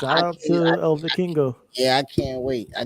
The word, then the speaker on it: Vikingo: Kenny Omega is wrestling Vikingo. That's how you say his name. El Vikingo.